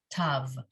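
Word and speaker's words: ת: boo sound um so this is the one where those who learned ashkenazi learned this to be pronounced more like an s which is no longer the way it's pronounced so this letter whether it has a dot in it or no dot in it is always pronounced tav okay okay excellent so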